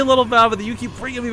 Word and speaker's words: Lilbow: But Kane assures us after living and spending time with him, it is pronounced Little Bow.